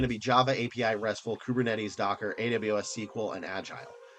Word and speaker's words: Kubernetes: API, RESTful, Kubernetes is I think how that's pronounced now. People in the comments have told me that.